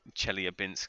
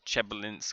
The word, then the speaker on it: Chelyabinsk: I've heard a couple of different ways on how to pronounce that, but I believe the kind of accepted way is Chelyabinsk and not Chelyabinsk.